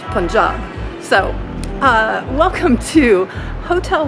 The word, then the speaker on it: Punjab: past couple of days because i've always said punjab and apparently that is not how it's pronounced it's punjab so uh welcome to hotel one in bawapur